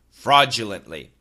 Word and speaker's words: fraudulently: little bit British but most Americans will say fraudulently listen carefully again perfect pronunciation perfect standard American American pronunciation fraudulently fraudulently fraudulently fraudulently typical American Standard pronunciation fraudulently fraudulently fraudulently it's a glott stop fraudulently fraudulently okay I